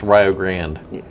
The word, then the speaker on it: Rio Grande: Just like if you interviewed here, it would be good to know that it's pronounced Rio Grande.